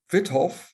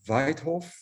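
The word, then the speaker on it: Wythoff: say vithoff and not weitof which would be the Dutch way to pronounce it but uh the Y in vitthoff is actually from a German last name so I don't think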